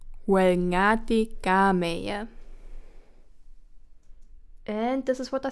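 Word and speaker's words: Oel ngati kameie: Or how Karyu says it, wrong pronunciation incoming. Welngati gameya. But correct pronunciation would be Welngati gameya.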